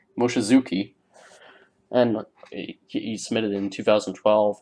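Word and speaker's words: Mochizuki: that yeah yeah Moshe Zeek that was a horrible pronunciation M Moshe Zuki and he submitted in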